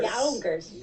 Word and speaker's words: Yonkers: It's There's a U in there. Yonkers. Give the U the respect it deserves.